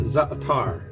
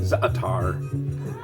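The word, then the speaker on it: za'atar: middle eastern seasoning called zatar I think that's how it's pronounced it's z a apostrophe a-t-a-r I'm gonna call it zatar like a guitar it has a little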